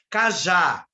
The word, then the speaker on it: cajá: Qual é o mais forte? A, né? O já, a sílaba já. Então, vai ser acentuada. Por quê? Porque a última sílaba é A e ela é oxítona.